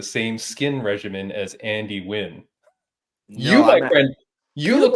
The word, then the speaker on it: Nguyen: Andy the Crazian Nguyen is how you pronounce it properly, and she looks like 18 and she's like 41.